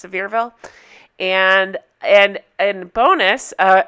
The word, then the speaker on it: Sevierville: with it's actually pronounced sevierville that's how the i believe the locals pronounce it it looks like it should be seaverville but it's sevierville and and and bonus